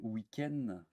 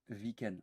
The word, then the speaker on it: week-end: un v comme wagon mais week-end attention avec le w comme en anglais donc on dit pas attention ne dit pas viken non on débat ça on dit week end pareil watts walkman et